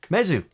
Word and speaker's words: Mezu: got that right here haven't i mesu at least that's what the mezu society website says is pronounced hopefully they're right in